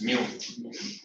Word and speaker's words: mu: That is you. Yes, that is That is what? you. 1 upon you. Yeah, 1 upon mu. Meow wala mu hai. It is pronounced as mu.